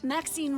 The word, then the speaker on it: Maxine: Exquisite varieties I bet Maxine rhymes with Queen after all and dearest